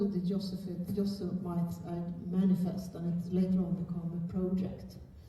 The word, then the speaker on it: Yosemite: It's called, I think it's pronounced Yosemite. Is that the American way of saying it?